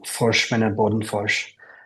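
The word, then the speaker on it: Forsman & Bodenfors: Yes, the Director of Business Affairs and Talent I'll try to say it with the Swedish pronunciation, Forsman and Bodenfors. Our office is in New York.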